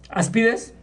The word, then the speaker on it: áspides: engañan veneno de aspides así se dice ide aspides si no tiene acento tiene acento en la a entonces n más tiene una a es aspides áspides qué es aspides Perdón